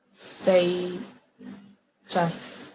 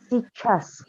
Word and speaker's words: сейчас: Yang informal berarti работай, пожалуйста, сейчас. Сейчас. Bacanya kayak S-I-C-H-A-S. Сейчас. Jadi Сейчас gitu. Y-nya kayak nggak dibaca gitu.